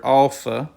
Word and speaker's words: Alpha: we have the letter Alpha and the alpha is pronounced like a as in Father then we have the